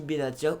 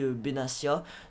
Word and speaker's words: Benatia: côté droit nous avons mehdi benatia ou bénatia c'est comme vous voulez les amis je sais pas comment français donc moi je le prononce mehdi benatia donc benatia franchement j'en